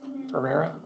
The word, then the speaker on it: Ferrera: Did I pronounce that right? Ferrera, okay.